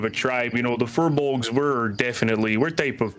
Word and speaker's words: furbolg: a pearl fertile bog fur fur bulga oh furbolg there you go hey it took me a